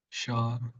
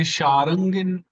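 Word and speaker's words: Śārṅgin: It's actually quite difficult to pronounce this exactly. If you say Sharangin, then that's incorrect because we do not have a following ra. So Shar, Shangin, Shangin. It's little subtle, the pronunciation.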